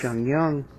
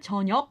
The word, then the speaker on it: 저녁: Definitely, it can be hard because it ends with this 기역 consonant, 저녁. 저녁. But it kind of sounds like 영, like the ng sound. Like 저녁 먹을래? Yeah, when you put it with other syllables afterwards, then it's not as hard a 저녁 sound.